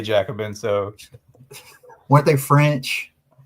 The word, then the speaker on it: Jacobin: go uh so yeah so Wikipedia says it's pronounced Jacobin and the French pronunciation is Jacob Bon oh man we're gonna have to work on